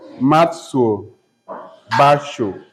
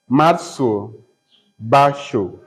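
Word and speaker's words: Matsuo Bashō: a IQ written by matso Basho written by Matsu Basho matso is powered m-a-t as you owe m-a-t-s-u-o Basho is spelled b-a-s h o with an accent on top of the o The Promise by the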